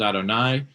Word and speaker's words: Adonai: the Torah Elohim and yud V which we would pronounce as Adonai um that is the